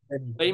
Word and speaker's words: Lemmey: Is that the correct pronunciation? Lemmey? Lemmey. Yep. Lemmey. Oh, Lemmey. I thought it was Lemmey, Daffy boy. No, there's no Leeme.